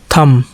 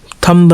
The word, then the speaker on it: thumb: THUMB थम, थम्ब नहीं थम, थम का मतलब हाथ का अंगूठा, ठीक है।